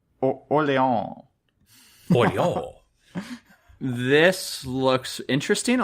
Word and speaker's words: Orléans: Orléans. Like New Orleans? No. You have to say it like you're French. Orléans.